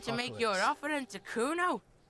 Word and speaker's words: Kuno: Kuna, the little isn't having it. No, I didn't. It's Kuno.